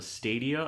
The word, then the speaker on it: Stadia: So they released, or they unveiled this thing called the Stadia. I believe that's how you pronounce it. Mm-hmm. It's like studio, but with 2 A's instead of the U and the O.